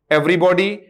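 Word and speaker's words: everybody: याद रखना दोस्तों, इन दो का प्रोनाउंसिएशन बॉडी होगा और बाकी का बडी होगा।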